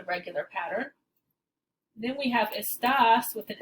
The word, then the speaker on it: está: There's a difference in meaning between está and esta. In this case, it changes pronunciation as well. Esta, está, esta.